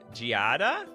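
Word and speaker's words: Giada: on it oh it's G Gada oh thanks for letting me know I would have pronounced it guide of my entire life Gada font of Hope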